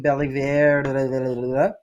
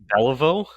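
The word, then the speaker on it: Jean Béliveau: You know that guy, Jonathan Bellivier. Jean Beliveau, Yeah, thank you, John Beliveau.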